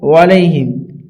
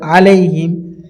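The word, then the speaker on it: عَلَيْهِمْ: হবে আলাইহি এটাও পড়বেন আলাইহিম অনেকজন পড়ি এটা ওলাইহিম এটা আমরা অনেকজন পড়ি কিন্তু আসলে এটা হবে আলাইহিম অনেক আলা আলা এটা হবে ওয়ালা দেখেন একটু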